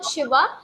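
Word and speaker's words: Shiva: इट Ram okay so यहां पर भी एस एच आईवी ए इट भले ही भगवान शिव है शिव के नाम के पीछे ए लगाया हुआ है ट ज नॉट बिकम शिवा ट इ शिव आप उसे शिव ही पढ़ेंगे ओके क्लास खने में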